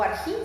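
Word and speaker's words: ἀρχή: Sócrates que eran científicos el arg o arjí se pronuncia era el origen único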